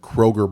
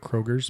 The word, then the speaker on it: Kroger: Kroger brand. Oh, not Kroger's brand. No, it's not Kroger's.